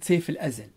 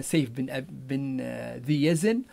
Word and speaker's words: سيف بن ذي يزن: طبعا هذه الطريقة اللي كتب فيها عشان اسمها، لكن هو غالبا تحريف أو النطق الليبي لهذه الأسماء، محمود بن أبي برص وقصة سيف الأزل. طبعا هنا تحريف زي ما قلنا، سيف بن ذي يزن، والأولى الظاهر ببرس، محمود الظاهر ببرس.